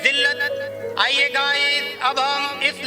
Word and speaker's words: ذِلّت: लेकिन जब हम लफ्ज़ जिल्लत की हिज्जे करते हैं तो लाम को 2 बार पढ़ते हैं।